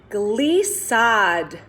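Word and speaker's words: glissade: to the ceiling good now the next one glee sod gliese sod sounds like very gliding right well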